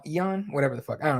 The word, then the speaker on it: Ion: Not Jan? It's Ion, whatever the fuck.